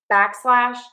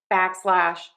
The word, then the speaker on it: backslash: So stress syllable number one back unstress slash backslash back slash backslash back slash back slash back slash backslash.